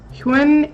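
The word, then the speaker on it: *Hyun-ae: myself my name is Hugh n EI EI e the star of course is silent it just represents that I'm an AI I control all the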